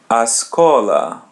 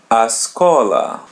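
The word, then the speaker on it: escola: So now try to say the school a to act like a native speaker. Remove the first vowel of the school. So it be ascola ascola.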